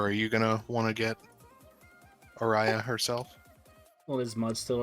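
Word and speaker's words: Auriaya: so how do you even say her name Ariah very well done Ariah that is correct I I eat it raid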